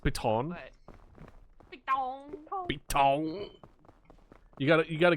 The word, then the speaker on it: piton: I have a pitten if you need it. All right. No, we're good. I do have a pitten, Okay. It's pronounced piton.